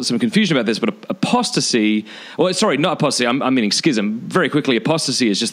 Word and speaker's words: schism: confusion about this, but schism. Very quickly, apostasy is just the total repudiation of the Christian faith, but schism or schism, how do you pronounce it? Schism. Schism.